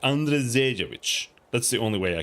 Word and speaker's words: Andrzejewicz: You have to pronounce the R like an RE or something, like Andrzejewicz.